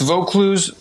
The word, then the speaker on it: Vaucluse: the website is gear is it volkluse is that the correct pronunciation yeah that's correct vote Clues vote Clues gear vocaloos gear okay now